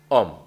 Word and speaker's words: Om: La sílaba Om en sánscrito son 3 letras, ¿vale? A-U-M, Om, ¿vale?